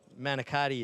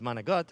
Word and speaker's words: manicotti: And even though Manicotti is not the proper way to say it, I grew up with Manigot, but that's a whole nother story.